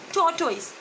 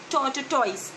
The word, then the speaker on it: tortoise: is choice we have you say tor toys don't pronounce tata toys it's totally okay the